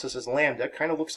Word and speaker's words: lambda: with this greek letter lambda that's how we pronounce this as lambda kind of looks like an upside down y